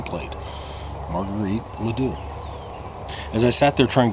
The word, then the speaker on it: LeDoux: her name plate Marguerite LeDoux as I SAT there trying to figure out how to pronounce her name miss Peterson said Marguerite LeDoux and she straightened up in her seat she pronounced it ledoux it says here you're